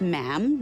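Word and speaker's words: ma'am: majesty and after that it's just mam rhymes with jam and it's always a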